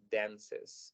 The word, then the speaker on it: dances: La E se vuelve a pronunciar y se le agrega una S para decir dances. She dances by herself.